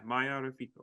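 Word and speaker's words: Maia Reficco: Yeah, Maya Rafiko.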